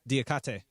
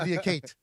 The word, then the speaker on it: Diakhaté: Diakhaté. I would not have said I would have said it the wrong way. I would have said Diakate.